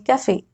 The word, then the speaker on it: cafe: Look at this word, cafe. There is E at the end, but I am pronouncing it. I am saying cafe. But the reason is this word has come from French. And actually, there is an accent on E which we don't use in English.